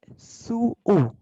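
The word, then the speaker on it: 吸う: ये है सू ऊ, तो इसका प्रोनाउंसिएशन प्रॉपर होगा सू ऊ, नॉट सू। इसका प्रोनाउंसिएशन सू ऊ होगा। ये वर्ब है सू टू स्मोक, तो सू ऊ, ये एक्सेप्शन है।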